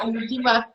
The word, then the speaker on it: Umuthima: I hope I'm pronouncing that right. Yeah, you are. Umuthima, my heart.